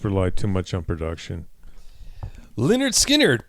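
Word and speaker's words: Lynyrd Skynyrd: Leonard Skinnard. Pronounced Leonard Skinners.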